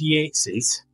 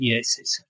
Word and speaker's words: Yates's: Next to it is Yates's. Don't tell anybody it's Yates. Pronounced, spelt Yates, but everybody calls it Yates's.